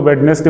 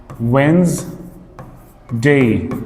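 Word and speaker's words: Wednesday: लेफ्टेंट lieutenant lieutenant इस तरह से है और वो है काबट वेडनेसडे वेडनेसडे जनरली उसको वेडनेसडे बोलते हैं लोग लेकिन इसका जो करेक्ट प्रोनंसिएशन है वो है वनस डे डे का प्रोनाउंसिएशन तो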